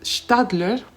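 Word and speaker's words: Staedtler: perdonara la pronunciación pero creo que se pronuncia stadler porque son alemanes voy a mostrar acá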